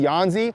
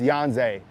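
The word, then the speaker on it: Yhonzae: Yanze Pierre. I was saying Yanzi, but I was just reading the pronunciation guide. It's Yanze. So Yanze Pierre, and then you have Keon Keeley.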